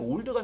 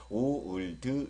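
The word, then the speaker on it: old: 붙여서 now now 그다음에 올드가 상당히 발음이 어려운데요 연습하실 때 올드 이렇게 하지 마시고요 오드 이렇게 발음을 해 보세요 올드 올드 오 오드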